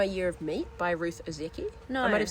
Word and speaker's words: Ozeki: Did you ever read My Year of Meat by Ruth Ozeki? I might have said it wrong. Ozeki.